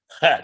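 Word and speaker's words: חית: we pronounce the chet and the chaf the same, but we're not supposed to. Yeah. I understand the difference because German has this same. All the Moroccans, all the Sephardim pronounce it chet.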